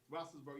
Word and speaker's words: Roethlisberger: Ben Roethlisberger. Is that how you say it? Steelers. Is that how you say it? Yeah, Roethlisberger.